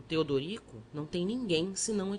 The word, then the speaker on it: Teodorico: O padre triste perguntou-me o meu nome, que eu pronunciava Tedrico. O outro, amorável, mostrando os dentes frescos, aconselhou-me que separasse as sílabas e dissesse Teodorico.